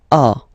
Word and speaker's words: as: Second one, tu as, okay? As usual in French, final s is not pronounced. Tu as, tu as, okay?